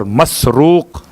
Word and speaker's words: مسروق: 3 تلفظ ہیں الگ الگ الفاظ کے اعتبار سے، مرزوق، مسرور اور مسروق. میم سین رے واو قاف مسروق.